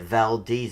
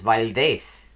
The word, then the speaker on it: Valdez: it really must be how the hell did we get around to pronouncing it valdez it's validace oh that's fitting this